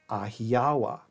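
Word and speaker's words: Ahhiyawa: Well, there's no really hard K or C sound, so the closest we can get is an H sound. Hence, the ancient Greek land of Achaea, whence come the Achaeans, would in Luwian be pronounced Ahiawa.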